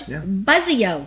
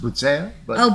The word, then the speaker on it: Buzzeo: name and on that not we have buzo I like your last name yes are you a buzz I'm a buzz buo I like that name Italian it's it's pronounced B but oh B I should have said but no it's